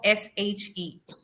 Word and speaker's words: she: Number one, pronunciation of SHE. Hmm. Okay, how do you Yeah, pronounce this? she. She. She. But in Hmm. your speech, you were saying C. Okay, so Hmm. it's not sir, it is sh.